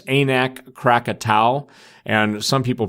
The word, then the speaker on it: Krakatau: spelled with a uke krakatua uh and based on some of the south pacific pronunciations that may be closer to the correct one but why is this